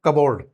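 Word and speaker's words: cupboard: नॉट कबोर्ड that is कबोर्ड कबोर्ड कबोर्ड yes pronounce it कबोर्ड Raspberry हां लीची Raspberry island S E silent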